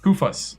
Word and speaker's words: Koufos: Kosta Koufos Koufos, that's right.